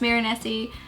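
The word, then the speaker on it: Mirenesse: The I I think it's pronounced Mirini Dad Define Art Duet Liner.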